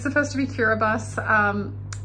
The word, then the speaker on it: Kiribati: just got to Tarawa kiribus it's pronounced kiribus not Kiribati you'll hear it pronounced both ways but it's supposed to be curabus um basically the ti makes the S sound so if you see